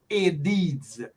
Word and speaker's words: Aedes: And then the second type that deals with dengue it is pronounced Aedes, the Aedes mosquito.